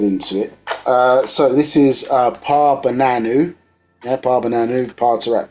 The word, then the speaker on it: Paa Bananu: So this is Paa Bananu. Yeah, Paa Bananu, Paa Taraq, Paa Bananu. That's P-A-A, separate word, yeah, Paa, and Bananu is spelled B-A-N-A-N-U.